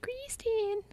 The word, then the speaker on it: Kristen: it's kind of like my name is Kristen and but you say it like Christine like that so make